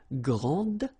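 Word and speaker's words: grande: And regarding the feminine form, you will pronounce it grand. Okay? Okay, don't insist on the final, but then pronounce this D and then exactly the same pronunciation.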